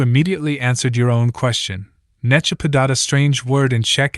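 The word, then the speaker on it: nechápat: Pronouncing it requires 3 consecutive cracks of the jaw, or, more exactly, the first syllable makes an attempt at holding the nut, in vain. The second syllable then tears the mouth wide open. The nut now fits inside, where it is finally cracked by the third syllable.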